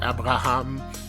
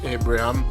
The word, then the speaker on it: Abraham: pronounce his name because the French side of me wants to say Abraham and the English side wants to say Abraham so I'm always stuttering when it when it's time to pronounce his name but since we're speaking in English I'm going to go with Abraham Tammy Abraham uh so